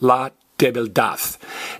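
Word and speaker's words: debilidad: Now, sometimes it'll be pronounced la debildad. D-A-D can be pronounced dad or dath. Like the truth is la verdad or la verdad. University is universidad or universidad, either one.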